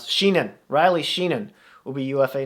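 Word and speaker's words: Sheahan: Because, is it Sheernan? There is a UFA. I'm looking for how to pronounce it. Sheenan.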